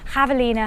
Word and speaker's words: Javelina: told by a couple of people that I pronounce the name of a race from so here goes javelina hundred with a javelina being a type of